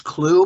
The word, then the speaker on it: Clough: I believe it's Clue, but I will go with that pronunciation for the.